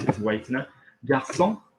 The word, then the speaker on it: garçon: Garçon, okay? That needs the soft C on it.